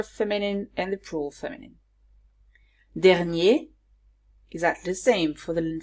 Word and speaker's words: dernier: Here, the pronunciation is different because I now pronounce the R in the singular masculine form. So here we say dernier, dernière.